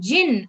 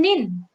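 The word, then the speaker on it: 人: the person so it has it its own pronunciation jin and nin and the japanese they called the person as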